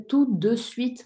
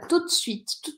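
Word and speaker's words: tout de suite: tudo fiz tudo isso o certo seria tudo Sweet mas a gente fala rápido e come a sílaba do meio e fica tudo se significa imediatamente da É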